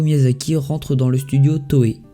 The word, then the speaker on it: Toei: rentrer dans le studio toei toile comme on dit chez pas ça s'écrit comme ça en tirant dans ce